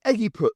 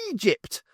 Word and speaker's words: Egypt: It's the Eggyput zone, Zernic informed her. Angie gave him a look. Egypt. It's pronounced Egypt.